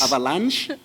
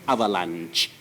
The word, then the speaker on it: avalanche: The other one ends with the sound ch. So, sh is British pronunciation, that is avalanche. Then ch is American ending, that is avalanche.